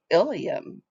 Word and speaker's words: ileum: But then we have the really confusing ileum. When we spell it with an E, it is the last and longest portion of the small intestine. But if we spell it with an I, it's part of the hip bone, but they're pronounced the same way.